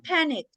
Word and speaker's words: panicked: And everyone panicked. Panic también está en pasado. Panicked. Suena como una T al final.